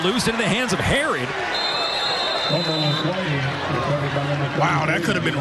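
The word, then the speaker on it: Herrod: It's spelled H-E-R-R-O-D, so it looks like. And I know the PA announcer says. And he was telling me when I was going over pronunciations, yeah, I call him. But last week someone called him Herod, and he's like, yeah, that's my name. He's never corrected coach. So it is Herod.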